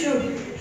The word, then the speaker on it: should: सलाह, क्या आएगा, बी शुड, शुड L silent रहता है, बी शुड follow the rules of the road, rules of the road.